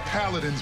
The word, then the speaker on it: Paladins: Yeah, and it's pronounced Paladins, people.